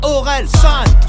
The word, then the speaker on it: Orelsan: Ça se prononce Orelsan.